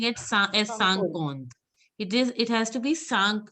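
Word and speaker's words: cinquante: You will not pronouncing it as Sankond. It has to be Sank. In is pronounced as Sang. So it is Sankond. You were pronouncing it as Sankant.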